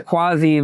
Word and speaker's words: Kwasi: We're here at Bit Basel 2025, and we're here with my man Kwasi, right? Is that how it's pronounced?